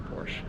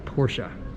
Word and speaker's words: Porsche: this car you know it's a porsche i'm sorry porsche it's two syllables right porsche i remember this supercar